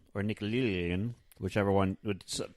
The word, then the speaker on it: Nickelodeon: So then in 1994, Nickelodeon, or Nickelodeon, whichever one, people in Ohio pronounce it Nickelodeon, just so... In case you're wondering why I was pronouncing it that way, launched The Big Help,